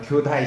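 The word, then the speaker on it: 京大: 일본 발음으로 교다이 시키인데 교토대 약자를 경대라고 합니다. 한자로는 경대고 그쪽 발음 교다이라고 하는데 교다이 시키라고 할 정도로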